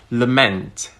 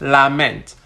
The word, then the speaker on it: lament: So instead of saying something like lament, where the ment is more clearly heard, you'd hear something like lament. When I say lament, I'm using the same time.